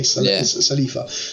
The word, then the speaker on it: Salafi: Salafi's right for you in America, the way the Americans would say it. We say Salifa. So it's a slight difference, that's all.